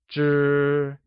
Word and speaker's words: 支: 知 is the measure word for stick-like objects such as pens or chopsticks and is pronounced using a high-level tone.